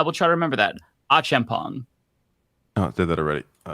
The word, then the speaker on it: Achampong: So Achampong, last name pronounced Achampong.